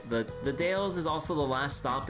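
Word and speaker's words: Dalles: canyon with rapids and is pronounced like dales. All right, the the dales is also the last stop in Oregon Trail.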